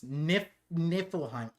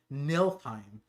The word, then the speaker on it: Niflheim: Niflheim. I kept on saying Nilheim in my video.